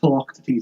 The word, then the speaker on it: Philoctetes: Apparently it's pronounced Philoctetes as well, how you'd learned in my Greek module.